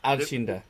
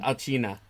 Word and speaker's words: Alcina: The opera. Alcinda. Arcina. Alcina. Alcina, yes. Alcina, yes.